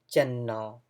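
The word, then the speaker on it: ကျွန်နော်: So channo, the pronunciation is going to be channo.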